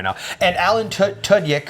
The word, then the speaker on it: Tudyk: And Alan Tudyk, or Tudyk, that's how you say it, who's in 28 Days, Wonder Boys, and obviously Firefly.